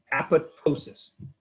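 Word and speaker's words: apoptosis: cell death is called apotosis apotosis which you see how it's spelled apotosis that second P you don't pronounce so it's apotosis programed cell death and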